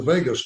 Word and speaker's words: vagus: it really stimulates the vagus nerve the spell VA GU is pronounced like Las Vegas which then to tributes